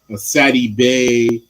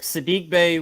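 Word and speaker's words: Saddiq Bey: um marvin bagley um sadie bay um i mean oh sadie i'm sorry i'm so cd i said his name wrong i apologize that's it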